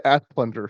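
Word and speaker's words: Asplundh: It's the Asplunder.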